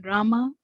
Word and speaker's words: Rama: krishna pronounced krishna in rama rhymes with drama are sanskrit words hawaii